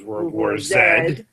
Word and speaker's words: World War Z: z good one okay proper pronunciation is World War sad whatever Canada all right so this